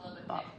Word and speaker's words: Lubbock: Pronounce Julie Lubbock, Texas. Lubbock.